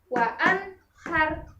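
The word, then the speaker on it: وَأَنْهَارٌ: Wa anhar, bukan wa anhar, tapi langsung dan jelas wa anhar.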